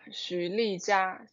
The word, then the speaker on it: Xu Lijia: We call you Lily, of course, but Lijia, how do you pronounce? Lijia, Xu Lijia.